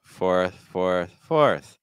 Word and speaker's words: fourth: It's like or fourth. See how weak the TH is? Okay, it's not about the TH. It's about the O sound and the OR sound.